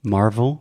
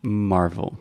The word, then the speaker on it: Marvel: Yeah, it's almost like marble. Marble is mármore. That's what you're saying. Yes, except with a V.